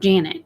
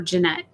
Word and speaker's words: Janet: Like the word Janet. My mom's name is Janet, but people call her Jeanette.